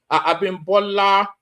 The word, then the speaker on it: Abimbola: I shouldn't be mispronouncing the Yoruba name. Abimbola.